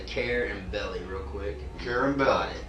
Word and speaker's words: Carubelli: carabell I always tell just say care and belly real quick care and